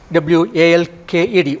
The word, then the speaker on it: walked: W-A-L-K-E-D, walked. Walked, not walked. D is to be pronounced as T.